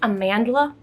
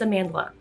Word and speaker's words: Amandla: name i'm so sorry it's like amanda but with an l in it i think it's a mandala but i don't want to